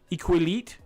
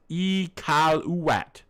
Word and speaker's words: Iqaluit: It's Iqaluit.